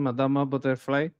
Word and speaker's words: Madama Butterfly: Italian pronunciation. Madama butterfly.